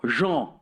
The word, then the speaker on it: Jean: This is a great quote from John Baudrillard, or Jean, to say it properly.